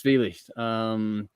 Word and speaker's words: Zwielicht: Well, it's not like two. It's spelled different to two. So I think it's Zwielicht. The CH is normally softer anyway in German, but yeah, Zwielicht.